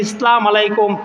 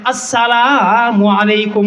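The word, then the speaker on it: السلام عليكم: দেই আছে না নাই অনেকে দেখবেন সালাম দেয় ইসলাম আলাইকুম আছে না নাই আল্লাহর নবী ডাক দিয়ে বলে ও দুনিয়ার উম্মতের দল ইসলাম আলাইকুম সালাম আলাইকুম দেওয়া যাবে না। বরং শুরুতে আলিফটাকে উচ্চারণ করে দিতে হবে। আসসালামু আলাইকুম বলেন আসসালামু আলাইকুম। সুরতে আলিফটাকে উচ্চারণ করে শুদ্ধভাবে সালাম দিবে।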